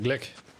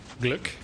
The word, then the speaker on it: Glück: The U with the umlauts is Gluck. Okay. Yeah, the first one you said it. It always kind of like throws me off. I guess it's pronounced kind of like book. Usually when there's a umlaut, you gotta close your lips a bit more than usual.